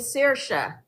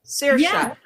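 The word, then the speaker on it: Saoirse: One of them is named Cersa. Cersa.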